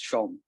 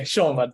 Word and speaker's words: Shome: Arumoy Shome, if I'm not wrong with the pronunciation. So Arumoy, are you there? Yes, you got it almost Yes. right. It's Shome. Oh, okay, Shome.